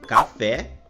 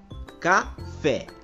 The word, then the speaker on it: café: oxítonas turma as palavras oxítonas são aquelas palavras que possuem a última sílaba como sendo a sílaba tônica Ou seja a última sílaba é a sílaba mais forte como por exemplo nas palavras café Cipó guaraná Saci chulé e urubu percebam que todas essas